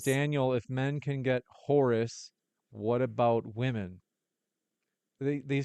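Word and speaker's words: houri: We're going to go to the next question, which is Sim says, "Daniel, if men can get Horus, what about women?" They they pronounce it h o ur i.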